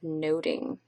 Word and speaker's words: nothing: is the idea of noting and the title must do about nothing would have pronounced would have been pronounced more like noting and back in elizabethan english and noting could mean